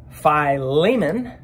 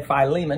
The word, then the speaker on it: Philemon: The answer is in Philemon, or Philemon, or however you want to pronounce it. I say Philemon because I think it sounds the best that way.